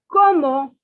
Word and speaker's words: comment: see please pay attention the word c-o-m-m-e-n-t that other in english it is pronounced as commend it is not comment in french it is como como okay it is